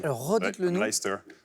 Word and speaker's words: Leicester: qui sont très bizarres, parce qu'il y a un C-E-S-T-E-R, mais C'est ça ça. se prononce en une seule syllabe. Alors, redites-le nous. Leicester, Worcester.